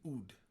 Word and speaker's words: oud: The instrument that I'm playing now is an oud, which rhymes with food, one of my favorite subjects.